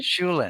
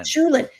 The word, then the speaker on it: Shulin: Is that how you pronounce Shulin, her name? Shulin, Shulin.